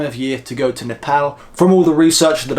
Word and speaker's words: Nepal: If anyone's wondering, by the way, why I'm saying Nepal instead of Nepal, because it is actually pronounced N-E-P-A-L, Nepal.